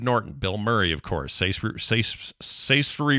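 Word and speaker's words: Saoirse: Bill Murray of course say story Ronin Sasha Ronan she plays she just does her straight up Irish accent she's fantastic rhymes with inertia that's right and Claire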